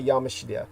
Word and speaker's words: Yamashita: This is why Yamashita, the correct pronunciation of his name when you say Yamashita's